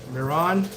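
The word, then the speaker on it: Mehron: This is called Clown White, and it's made by Miron. You can, it's spelled M-E-H-R-O-N.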